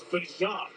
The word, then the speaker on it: Bijan: there was a story, an interview that it's Bijan. And that's the way his mom and his grandma like it pronounced.